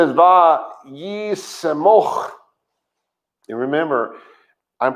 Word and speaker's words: vaYiqra: But the word would have been pronounced vaYiqra, where now it's pronounced, and I'm guessing because I don't do the modern very well, but I think it's vaYiqra, which is just a very lazy, very slurry, not slandery, that's the wrong word.